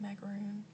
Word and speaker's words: macarons: I made these little French macarons. Is that how you say it? Like the little cookies with the filling in the middle last night because I've been wanting them so bad. And I know maybe people in the States say it like macaroon, but they're not like the coconut macaroons.